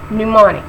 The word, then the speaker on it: mnemonic: so mnemonic it says the first M is not pronounced in this work so it be new morning right not middle morning